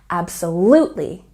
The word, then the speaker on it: absolutely: Absolutely has a stress on the third syllable. Absolutely, absolutely.